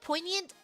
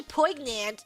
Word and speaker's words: poignant: And if you say poignant, it's like people don't know what you're saying. When you say poant, then they know how to spell it. They're like, "I've seen that word written sometime somewhere before." You hear the G and then you're like, "Yeah, I know that word."